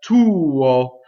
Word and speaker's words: tuo: So often with the word tuo, you'll see only one note. It's considered one syllable and a semivowel, but you'll have to actually make two notes to sing that, right?